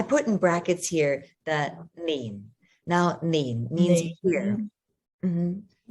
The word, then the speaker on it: 年: another thing to note about Nin. it is that you've got Nin. N spelled with an N. So the N sound nin. But a lot of times people are going to be pronouncing Nin. it L, like lean, right? Geda lean or gum lean. But it's traditionally should be pronounced with that N, nin.